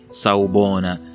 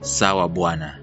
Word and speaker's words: Sawubona: get my facts correct, is Sawubona. Okay, Sawubona. And you know, when Seth Godin was pronouncing it, it sounded like Sawabwana.